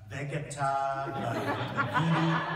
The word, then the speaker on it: Vegeta: And his name was Vegeta, Vegeta.